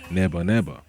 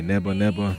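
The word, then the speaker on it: ネバネバ: Neba Neba in Japanese, okay? Neba Neba, never, Neba, because you could pronounce the V's and B's. The sound used could be interchangeable.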